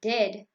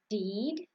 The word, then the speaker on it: dead: And dead, it's said like bed, not bead. For goodness sake, don't call it deed.